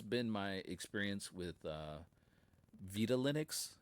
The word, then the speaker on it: Vitalinux: Yeah, this this has been my experience with uh Vita Linux is how I'm going to pronounce it. Um because it's Spanish.